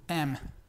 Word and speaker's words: am: no pronunciamos en español se pronuncia como una una e pero con la boca más abierta o sea e e O sea la palabra completa sería am eh Y para formar